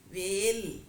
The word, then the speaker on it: வேல்: உச்சரிக்கும் போது கவனமா உச்சரிக்கணும் நுனி நாக்குல உச்சரிக்கும் போது வேல் அப்படின்னு உச்சரிப்போம் இதை உச்சரிக்கும் போது வேல் அப்படின்னு சொல்லிட்டு நாக்கை இன்னும் மடிச்சு நடுப்பகுதியில போயி உச்சரிப்போம் இப்போ வேள் அப்படின்னு சொல்லும்போது தலைவன் இப்ப வேள் பாரி